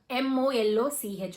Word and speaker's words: Moloch: So at that time, the first person or the first fallen angel who comes and speak is called Moloch, M-O-L-O-C-H, or it can be pronounced as Moloch.